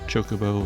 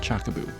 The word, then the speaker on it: Chocobo: I really hope that's not the pronunciation, the official one. Pretty sure it's Chocobo or a Chocobo, but not Chockaboo.